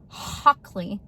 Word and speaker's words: Hockley: That is Hockley, like you're hawking a loogie.